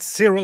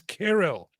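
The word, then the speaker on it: Cyril: Yeah, I hate to do this and I hate to do this to you, but the correct pronunciation of it is not serial, it's carol.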